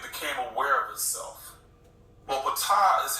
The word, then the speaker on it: Ptah: Ptah, this is PTH right here. Every time you see something like that, you're supposed to pronounce it out. It's not a damn abbreviation. You pronounce that. Ptah is the creator of the physical world.